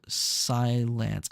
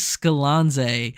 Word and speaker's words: Skilanze: It's pronounced like in sci-fi and then like lands, so silence.